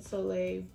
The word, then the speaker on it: soleil: is this is the laura mercier bronzer and soleil one and that's how you say it can't